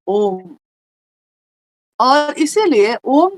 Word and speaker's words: ओम: उत्पन्न हुई और उस ध्वनि की आवाज़ थी अ, उ, म। यानी जिसको संयुक्त मतलब पूरा मिला दिया जाए अगर तो होता है ओम।